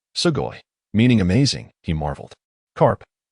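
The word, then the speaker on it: sugoi: pronounced sugoy meaning amazing.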